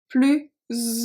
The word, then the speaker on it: plus: So technically those 2 are pronounced plus, but because of the O of ouvert and the A of agréable, we are going to pronounce it as a Z sound.